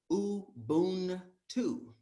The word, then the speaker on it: Ubuntu: You pronounce it uu-Boon-too.